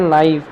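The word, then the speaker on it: naive: मैंने गलती से पोएम पढ़ाते समय इसका नेव उच्चारण किया था, नेव नहीं, इसका सही उच्चारण होता है नाइव।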